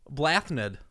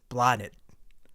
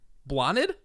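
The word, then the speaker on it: Blathnaid: b-l-a-t-h-n-a-i-d take a shot blathnid you are close you are actually really close take out the th it is pronounced blotted blotted hey yeah hey I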